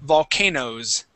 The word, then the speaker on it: volcanoes: Okay, but even when we say potatoes, okay, we wouldn't pronounce that ES sound. Okay, volcano would be the same. All we would say is volcanoes.